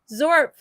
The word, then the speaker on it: XORPF: That is from, how do you say it? XORPF? Oh, that's Zorp. Zorp.